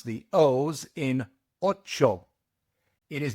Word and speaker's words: ocho: You must pronounce just one vowel sound when you pronounce the O's in ocho. It is not ocho. It is ocho. It's just O and not O. Ocho.